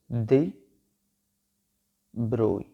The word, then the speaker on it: de Broglie: de Broglie आपने सुना होगा, बट इट is called as de Broglie। Pronunciation जो है उसका वो कुछ ऐसे होगा, de Broglie।